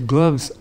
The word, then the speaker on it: glove: Terus saya bilang, saya butuh gloves. I'm cold, gitu kan ya. Ternyata salah saya adalah I have to say glove because it rhymes with love.